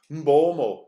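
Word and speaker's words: Mbeumo: A goal by Muam Muamo is his name. That's how you say it properly.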